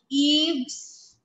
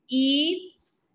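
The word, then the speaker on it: Yves: one everybody pay attention eaves it's ease song s-a-i-n-t is not saint in english we call it saint but in french song if song l a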